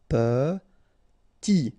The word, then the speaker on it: petit: Petit, okay, remember to pronounce this E like a E, petit, final T not pronounced, petit.